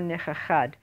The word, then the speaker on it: nichachad: And then the next phrase picks up, V'Yisrael lo nichachad. So to pronounce nichachad, you have to make two chachas, because otherwise you can't hear the second one.